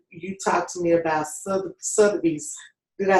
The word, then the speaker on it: Sotheby's: Like you talked to me about Sotheby's.